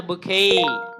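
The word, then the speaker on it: bouquet: আমরা বুঝি ফুলের তোরা তাহলে এটা কি বুকেট হবে না বুকেই বুকেই আচ্ছা পরে আরেকটা শব্দ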